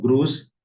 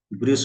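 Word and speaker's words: Grüß: इसका प्रोनाउंसिएशन होता है यू, यू के जैसे। इसको क्या बोलेंगे, ग्रूस, नॉट ग्रूस, ग्रूस, ग्रूस। Something like जैसे इंग्लिश में बोलते हैं Duke, not exactly but something like.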